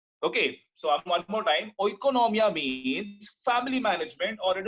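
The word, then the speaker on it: οἰκονομία: This economic word is derived from a Greek word which is called as oikonomia. I am pronouncing again. This word is oikonomia.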